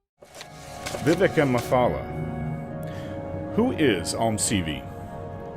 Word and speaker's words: Vivec: Yes, most Dunmer pronounce it as Vivec. I've always just said Vivec, but I am fully aware that most people say Vivec.